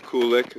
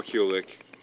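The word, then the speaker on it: Kulick: it pronounced so many I'm cool with Kulik or KCK Kulik kind of sounds more guitar like CU cool right kol cool as and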